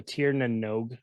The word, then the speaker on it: Tir Na Nog: It is pronounced Tir, T-E-A-R, Na, N-A-H, Nog, N-O-G-U-E. So Tir Nanog.